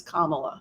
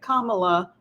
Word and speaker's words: Kamala: to her and she said her name is Kamala so I am pronouncing it Kamala because that's how the vice president pronounces it